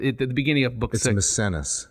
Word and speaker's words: Misenus: doesn't sound right I'm maybe I'm getting the name wrong but it the beginning of book misenus misenus sorry sorry took me a second I couldn't